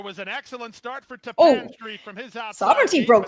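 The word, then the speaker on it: Tappan Street: I've been pronouncing that wrong all week. Same here. In the run to the first. You guys are used to saying tap it, so it's like tap it.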